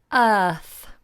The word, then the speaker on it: earth: We don't pronounce the R. Earth. See how flat the tongue is? It doesn't curl.